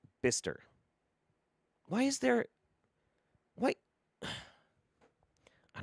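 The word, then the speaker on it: Bicester: of cash teasing you b-i-c-e-s i'd say it's be kester but it's pronounced bister why is there what i don't [ __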